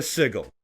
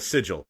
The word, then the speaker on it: sigil: a nightmare dungeon oh if you find a signal or a Sigil sorry I don't know I always pronounce the G card that's on me you